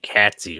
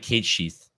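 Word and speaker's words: Cait Sith: say it it's cat it's not it's cat catsy or something like that it's actually yeah k no it's like Kate sheath I can't believe I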